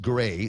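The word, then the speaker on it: Grés: Ed Alvarez, good morning to, let me see, Gray, G-R. It's the E with the mohawk on it, S. And according to Donna, that's pronounced Gray.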